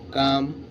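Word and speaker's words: calm: করি সবাই পারবে silence L কে এল এম কাম এইচ এ এল এফ হাব টি এল কে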